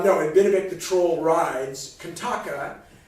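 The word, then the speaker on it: Qantaqa: And the wolf, Kantaka, on whom Binabik, Sid, as we say in America, and Binabik the troll rides, Kantaka, although it's spelled with Q's, Kantaka, Kantaka, was actually the name of the Buddha's horse.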